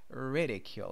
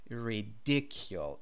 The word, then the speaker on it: ridicule: Pay attention to the pronunciation of the word there. It's ridicule. It's not ridicule, even though the adjective is ridiculous.